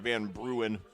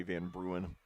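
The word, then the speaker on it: Van Bruaene: of band band they're pronouncing van bruin it's v-a-n-b-r-u-a-e-n-e i think it's actually in dutch that would be von brunner or something like that i'll have to ask some of my dutch friends that but anyway it's uh that's the american ice pronunciation anyway van bruen so it's a 20-yard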